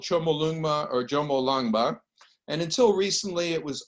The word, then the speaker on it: Jomolungma: And I've underlined 3 syllables, which contract into Jomolungma. And what the Tibetan language does, instead of using acronyms, they shorten the syllables. And so it becomes Jomolungma, and this is the name of the goddess.